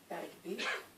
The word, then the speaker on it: Bergby: Bergby. Bergby?